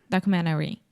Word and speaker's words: documentary: yes documentaries documentaries yes in the word documentary this is very similar to LinkedIn or Internet if I'm speaking fast I will almost remove the tea it's more of a stop te and I do not say documentary I say documentary documentary perfect okay documentary um